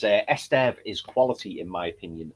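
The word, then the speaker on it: Estève: Um Joe Genie Esester asked you another question and apologies if I pronounced this incorrectly, but he says, "Esteev is quality in my opinion.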